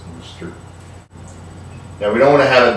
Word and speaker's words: Worcestershire: Worcestershire sauce, or as they say in England, Worcester sauce, because if you have 15,000 syllables, it's gotta be pronounced Worcester.